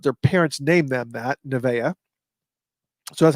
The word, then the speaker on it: Nevaeh: not one, but two people that are named Nevaeh, which is heaven backwards. They're kids, but their parents named them that, Nevaeh. So that's how you pronounce this, Nevaeh Ni Icalpa.